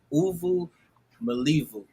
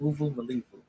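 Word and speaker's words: uvumilivu: I forgot how to pronounce it. Uvu Malivu. That's how you pronounce it. Uvu Malivu.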